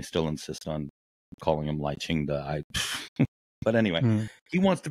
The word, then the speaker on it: Lai Ching-te: And we'll go from Tsai Ing-wen to, is it Lai Ching-te, is how you say his name?